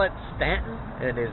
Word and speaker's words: Staunton: sure to call it stanton it is not staunton there's a u in it s-t-a-u-n-t-o-n but they pronounce it stanton that's what the locals